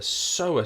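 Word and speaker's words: psoas: And we've got this one here which we refer to as the so muscle. The P is silent. The so muscle.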